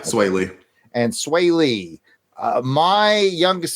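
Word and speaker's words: Swae Lee: It's Sunflower by Post Malone and is it pronounced Sway Lee? Yeah, Sway Lee.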